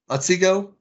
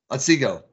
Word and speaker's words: Otsego: city to go into how do you pronounce it oswego oswego otsego there you go otzigo that's where i'm going